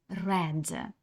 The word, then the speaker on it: read: не зміниться нічого проте коли ви вимовляєте це слово то воно вже буде вимовлятися по-іншому а саме read I read this magazine